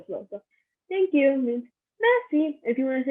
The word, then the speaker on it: merci: Thank you is merci. Merci. So you don't really pronounce the R. It's like a rolling R.